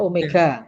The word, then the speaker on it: omega: Bukan W. Bacanya omega, ya. Omega, Pak.